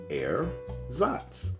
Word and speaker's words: ersatz: today we talk about air zots rate erzots an artificial substance or article used to replace something natural or Genuine a substitute pronounced air zots in the fictional world